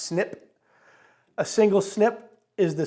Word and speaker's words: SNP: or single nucleotide polymorphism abbreviated SNP and pronounced snip a single snip is